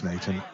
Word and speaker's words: Sneinton: knowledge in it so he said it was snan and we're watching Mark boy against Clint ianson